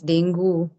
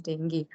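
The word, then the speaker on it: dengue: pronouncing it wrong so when I told somebody that I had dingi so he was correcting ma'am it's not dingi it's dangu then I told that no the right pronunciation is dingi but they don't understand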